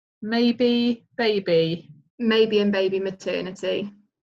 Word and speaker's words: Mabey: are you spelling that because your name is maybe so just bear in my mind the radio so it's probably easy to just fill your company name okay so my business name is spelled ma Y be e and baby Maternity whereas my surname is spelt ma be ey rights okay so play on maybe C maybe and baby